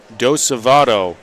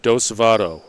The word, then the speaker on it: DeSavato: And right on cue, the production staff from Fredericton, DeSavato is the pronunciation we're looking for. Demoy DeSavato.